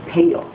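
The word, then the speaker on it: pail: pale. P-A-I-L 사운드로 양동이잖아요. 이 pale 사운드는 잘 보십시오. pale. 저희 입모양이 하고 윗니와 아랫니가 보이면서 하는 거 보이시죠? pale 하고 발음하십니다. M 사운드의 히든 사운드는 입니다.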